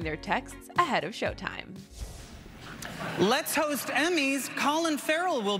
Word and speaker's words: Levy: it goes well tonight my name is pronounced Le not Levy and if things go